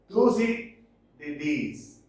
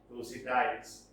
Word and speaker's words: Thucydides: Next, Thucydides, some pronounce Thucydides.